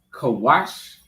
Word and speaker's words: Kush: Which is Kawash.